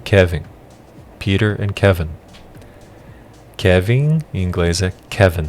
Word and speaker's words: Kevin: o pedro e o kevin kiner em kevin kevin inglesa kevin e nós temos a tendência em português de colocar é pronunciar o enem como m hum kevin kevin